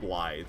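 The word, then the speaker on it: Blaidd: I hate that it's pronounced Blythe.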